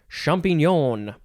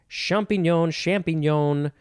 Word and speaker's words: champignon: Next and last word for this episode is champignon. Champignon. You can say it that way too. Champignon. You get it. It is spelled Champignon.